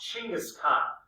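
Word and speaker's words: Chinggis Khan: assume the title of chingis Khan It's actually pronounced chingis Khan which means Universal ruler his father was murdered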